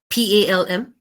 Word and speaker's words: palm: not a rule but if there is an L before M the L will be silent for example um p a l m is Palm um cm is CM um a l m o n d s Al uh s m o n salmon so this is another